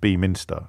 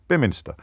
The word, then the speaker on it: Beaminster: I'm pretty sure it's not pronounced Beaminster, but I think, anyway, Bemster. Bemster, is it? Is it Biminster? Thank you. Biminster.